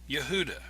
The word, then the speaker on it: Yehudah: name jorge wahey in relation to the name yehudah which is judah many have noticed that the hebrew letters in the yodhi oahe are identical to the name yehudah with the exception of the letter dalit the